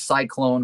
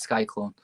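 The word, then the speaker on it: Syklone: movie just corrected us it is cyclone but it's spelled s-y-k-l-o-n-e which is why i always think it's sky clone yeah i guess it's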